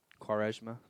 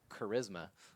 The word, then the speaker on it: Quaresma: Is that how his name is pronounced? Quaresma. Really? Quaresma, I just yeah. called him Charisma, He probably don't mind that. like the D&D stat.